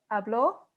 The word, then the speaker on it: habló: Tú hablaste, él, ella, usted habló versus hablo.